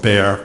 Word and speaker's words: Bexar: In 1981, I became chief medical examiner of Bexar County, Texas. And for the transcriber, Bexar is spelled B-E-X-A-R. The X is silent.